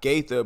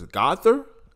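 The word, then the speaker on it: Gauthier: And for the second team, Colton, not Gaither, but it's Gother. I think that's how you pronounce it.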